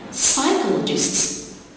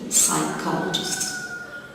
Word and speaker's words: psychologists: Psychologists, you got two silent letters, P in the beginning and the H after the C. Psychologists.